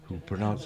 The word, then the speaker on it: Kabul: we say kabul carmel kabul is the correct pronunciation yes it's the way the locals say it but yeah yes and